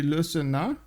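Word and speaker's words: Le Sénat: The T is silent in Le Senat. Wait, really? Sandorios, good evening, sir. Is it actually silent? So it's actually Le Senat?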